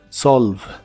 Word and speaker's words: solve: lavial y vibrante y la e del final es muda solve solve el auxiliar would